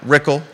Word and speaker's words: Rickle: got an Malik and Brad rickle rhymes with pickle contested election be La